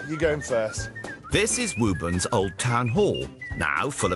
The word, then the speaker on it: Woburn: Woburn, sometimes pronounced Woburn, has been burned down and rebuilt three times, once by the Cavaliers during the Civil War.